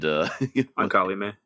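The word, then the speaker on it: Ancalimë: and the idea is that, you got the pronunciation of their daughter's name much better than I did. Ankalime.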